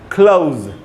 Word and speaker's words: close: Verb की तरह यूज़ करेंगे तो इसका उच्चारण होगा क्लोज।